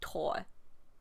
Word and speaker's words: Thor: I'm used to Thor because of Marvel, and the THOR reads as Thor, but the audiobook kept saying Tor.